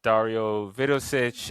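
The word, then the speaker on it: Dario Vidošić: uh um oh man I always get his name wrong. Let me make sure I get his name right. Uh yes, Dario Vidosich.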